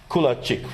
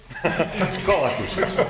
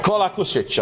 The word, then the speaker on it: Kolakušić: And another colleague from Croatia, Kulačić, right? Do I pronounce it correct? Right now, not. Kolakušić. Kolakušić, I know it's tough with all these names.